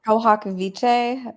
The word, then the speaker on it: pro hac: in pro pro, how do you say it? Pro hack vice or prohawk prohak. Yeah, I always say it wrong.